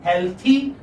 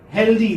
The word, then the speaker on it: healthy: And okay, many people mispronounce this. They say healthy. They say this da here, healthy, and they say this da there also, wealthy. But this is not this sound. This is this sound, healthy, wealthy.